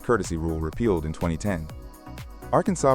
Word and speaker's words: Arkansas: Arkansas prescribes the official Arkansas pronunciation with silent final S and emphasis on the first and last syllables.